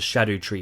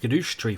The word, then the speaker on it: Scadutree: earth tree introduces the shadow tree fragments Shadow tree fragments apparently not pronounced scoo tree fragments despite it sounding way more fun scoo the problem with